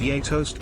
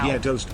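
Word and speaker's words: gjetost: relaxing to face toast cheese pronounced y toast by Americans or ye toast by Scandinavians is also Al known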